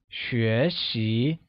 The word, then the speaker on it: 学习: To learn or to study becomes 学习, where 学习 is pronounced with a mid-rising tone on both E and I.